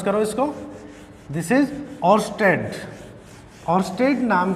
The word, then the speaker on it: Oersted: Yes, pronounce करो इसको। This is ऑर्स्टेड।